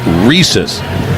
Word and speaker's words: Riss: It's R I S S in the media guide or on the UCLA pronunciation guide. It's Reese's like the pizzas.